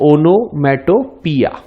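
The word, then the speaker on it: onomatopoeia: The pronunciation is ओनोमेटोपिया, right.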